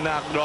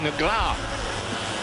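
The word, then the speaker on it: Negrão: And the pronunciation, really, of Alexandrino Nagro, I'm told from my Brazilian friends, is more like Negra. So there you are. If you're speaking of the Portuguese, the Castilian Portuguese, then you get a little closer to that pronunciation.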